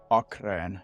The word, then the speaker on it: Achrén: Achrén.